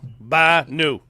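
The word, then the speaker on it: Bhanu: Banu Banu Banu Banu like like a goat ba new like you just bought new car new by new by new there you go you got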